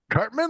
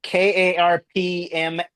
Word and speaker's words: Karpman: No, it's spelled. I knew you were going to say that. That's why I was like, nope. It's Karpman. Oh, Cartman. Okay, so it's a P, not a T.